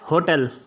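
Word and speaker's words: hotel: और जैसे होटल, तो होटल अब नहीं पढ़ते, अब होटल पढ़ते हैं इसको, एन होटल, तो इसमें एच साइलेंट होता है, तो यहाँ पर भी हम एन का इस्तेमाल करते हैं।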